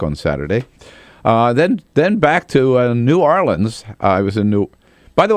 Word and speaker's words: New Orleans: I learned from him, the local correct pronunciation is New Orleans. Yes. New Orleans. That is correct. It's hard to say, but it's New Orleans. New Orleans. It's not New Orleans.